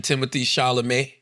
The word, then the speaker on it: Timothée Chalamet: I was watching Timothy Shalamé. That's how you say his name.